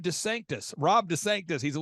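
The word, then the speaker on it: DeSantis: headed to Ron to sanctimonies I'm sorry I mispronounced it's Rob Des Sanctus Rob Des Sanctus he's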